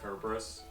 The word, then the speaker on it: Cerberus: and the fact that cerberus's name is actually pronounced kerberos but i'm still gonna